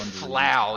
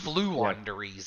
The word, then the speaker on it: Floowandereeze: I think I said flow yeah I think it's flu anderies yeah I don't know why I said flow it's flu anderies cuz it's like